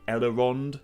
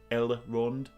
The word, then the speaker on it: Elrond: a bit of a habit of sometimes um adding in kind of half a syllable after an L I do say elorond instead of ellerond elarond elrond elrond yeah I do I do